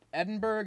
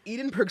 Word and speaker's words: Edinburgh: Is it Edinburgh? Is it Edinburgh? Edinburgh. Edinburgh. My brother was just telling me there's like more syllables than you think cuz it's not spelled borough. It's b u r g h.